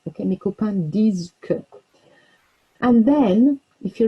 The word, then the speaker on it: disent: Now remember, we don't pronounce the ENT there on the end of these. Okay, mes copains disent que.